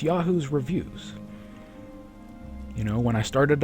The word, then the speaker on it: Yahu's Revus: people's fault that that like everybody says yah Revis yah welcome to the stream yah Revis and I have to say well close enough but it is Yahoo's review so if I mispronounced